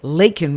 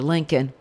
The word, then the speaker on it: Laken: and he admitted that Len Riley yeah Joe you still didn't say her name cuz you called her Lincoln was killed by an